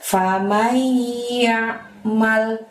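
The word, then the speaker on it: فمن يعمل: yang ketujuh diawali dengan lafadz famaiyakmal my di sana tahan selama dua harokat ya temponya jangan terburu-buru membacanya famaiyakmal seperti itu lalu adalah fat mitsqoola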